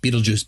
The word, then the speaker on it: Betelgeuse: That's Betelgeuse, or however you want to pronounce it. Betelgeuse, Geist, whatever. I say it like in the movie. Beetlejuice, Beetlejuice, Beetlejuice.